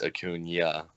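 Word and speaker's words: Acuña: I've always known that to correctly pronounce his name, it's Acuna because of the way it's spelled.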